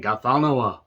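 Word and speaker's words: Ghatanothoa: Gathanoa. But you're supposed to say it like, got another one, but then you hold the tip of your tongue and everything. Gathanoa.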